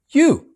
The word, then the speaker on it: yo: How do you say I? Yo. Yo. And as you remember from the lesson on the alphabet, the Y is a Y sound, so it's yo. How do we say you?